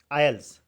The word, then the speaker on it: isles: The with cities gardens and cliffs and आयल्स, वहाँ पर लिखा हुआ है ISLES, ये आइलैंड के लिए इस्तेमाल किया गया है, ठीक है। आयल बोलते हैं इसको, एस साइलेंट रहता है, और ये आइलैंड है, क्या है ये आइलैंड।